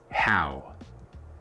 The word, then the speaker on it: How: La H no es muda, escucha la pronunciación. How.